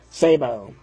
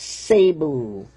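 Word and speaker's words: Szabo: love La even more the Z is silent it's Hungarian it's pronounced Sabo okay well J good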